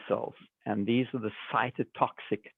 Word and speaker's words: cytotoxic: do you say that i'm sorry this is cytotoxic cytotoxic okay so those cells go and kill